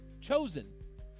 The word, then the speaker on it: Joseon: Let me see how to pronounce it. Chosen.